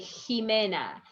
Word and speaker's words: Ximena: This lady, Ximena, is not Ximena. You read like Jimena. So you see XA, XI is going to be like ha or he.